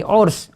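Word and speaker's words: عرس: Urs di sini cara bacanya adalah ainnya itu dhamma, kemudian roknya itu sukun.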